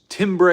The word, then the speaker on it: timbre: band but um yes Timbre is pronounced Timbre that's correct it doesn't seem like it would be that does it um